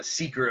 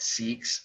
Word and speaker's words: Sikh: remember that that's a seeker of truth a devotee now i've heard people pronounce it sick so again i'm very i'm not very confident about this right i've met seeks and they say seek i've seen documentaries on